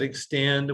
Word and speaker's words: X10D: Okay, and we pronounce it Extend.